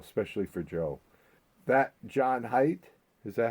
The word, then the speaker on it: Haidt: That John Haidt, is that how you pronounce it?